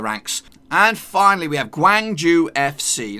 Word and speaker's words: Gwangju: and finally we have Gwangju FC now it looks pretty simple it is pretty simple it's Gwang Joo FC and just in case